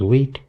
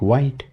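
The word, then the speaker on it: Vite: First, you can see it is using wheat here and this is pronounced wheat. Even though it looks like white, but it is pronounced as wheat.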